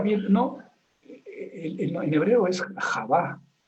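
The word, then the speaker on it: חוה: Y la pronunciación en hebreo es Javá, no Eva.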